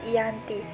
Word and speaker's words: Giyanti: di desa Janti dan pelafalan daya tersebut sebagai Yanti dan secara tertulis ia terbaca sebagai Giyanti tempat tersebut sekarang dikenal